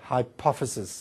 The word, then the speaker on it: hypophysis: If you write it, it sounds like hypophysis. It's easy to remember, hypothalamus, then under it's the hypophysis. But you pronounce it hypophysis if you want to say it correctly in English.